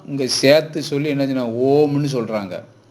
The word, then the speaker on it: ஓம்: சேர்த்து சொல்லி என்ன சொன்னாங்க ஓம்னு சொல்றாங்க ஓம் என்கிறதுக்கான சரியான உச்சரிப்பு ஆ உம்ம ரெண்டும் சேர்த்து ம்ல நல்ல அழுத்தமா சொல்லணும் ம் தான் பிரபஞ்ச சக்தியினுடைய